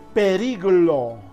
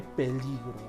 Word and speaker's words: peligro: Periglo en lugar de peligro. Se están cambiando, se está trasladando de posición algunas consonantes, algunas vocales. No se dice periglo, sino peligro.